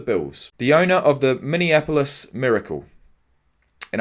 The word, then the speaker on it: Minneapolis: Stefan Diggs wide receiver for the bills the owner of the Minneapolis miracle and I actually said it right then for once normally it's minion minion and many yeah pretty much all